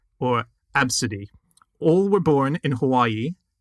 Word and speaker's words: Abcde: lot of things to unpick here so it's pronounced absidy there's a there's actually a couple of pronunciations but that is one of them yeah and sometimes um pronounced AB city which is what I'm going to call my